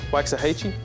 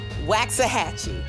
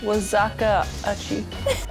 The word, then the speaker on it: Waxahachie: Waxahachie. Waxahachie. Waxahachie. Wazakaachie. What is it? What is this one? Waxahachie.